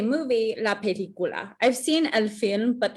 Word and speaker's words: película: makes an S sound, but a C before an A, O, or U, like película, makes a K sound.